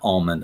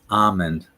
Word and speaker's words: almond: on this one yeah it's almond it's it's not almond I'm sorry it's almond now these next ones